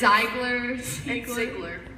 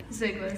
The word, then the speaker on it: Ziegler: Ziegler, but it's Ziegler, Ziegler. like zigzag.